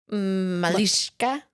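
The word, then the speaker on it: малышка: h k a it's Russian so malish Mishka malishka sure now you need to do Russian for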